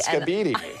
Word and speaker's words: skibidi: He called it skibidi. Skibidi.